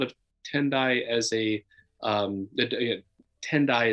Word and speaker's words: Tendai: tendai as a um tendai is the Japanese pronunciation of the term Tien Taiwan which comes